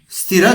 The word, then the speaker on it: sthira: Some speaker they used to speak like Sthiram Sukham Asanam. While reading or chanting the sutra or sloka, you should split the sandhi. So the meaning would be here, the pronunciation must be Sthira Sukham Asanam.